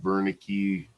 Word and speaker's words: Wernicke: it number eight there it's pronounced Wernicke even though it starts with w this has to do